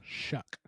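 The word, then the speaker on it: Shough: Shuck. Like shuck shucking an oyster.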